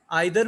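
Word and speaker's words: either: ये दोनों प्रोनाउंसिएशन दुरुस्त हैं, आइदर भी ठीक है और ईदर भी ठीक है।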